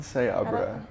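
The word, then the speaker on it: Seabra: off to her with anson how do you pronounce his last name siebra say abraham say abraham say abraham so pretty ensign say abra anson sayabra great dude lovely uh so you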